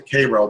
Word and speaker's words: Cairo: around Preston Nichols property new property new in Cairo New York uh they like to pronounce Koo but it's spelled Cairo interesting and it's named